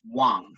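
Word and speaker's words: དབང: rate of empowerment now the word for empowerment i don't have this in the slide is wang that's spelled d-b-a-n-g because it's tibetan so what is an empowerment well a wong or empowerment enables and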